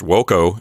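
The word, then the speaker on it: voco: that means to call the word v-o-c-o pronounced woco in Latin means I call it's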